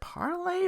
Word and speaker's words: Parle: Parle G biscuits. Is it parlay or parle with a silent E? Either one.